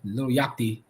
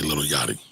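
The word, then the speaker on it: Lil Yachty: is um okay you I like how you pronounce little yach name call him little YSI little yachi I meant to say little yachty sorry you said I was reading them quickly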